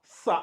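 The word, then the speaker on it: ثاء: le bas le TA le ça ça en mettant bien la langue au niveau des dents euh le sa après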